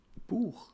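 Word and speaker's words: Buch: h like I said it's quite close to the uh to the English word b sounds a bit like book just with bit of a different ending but this is how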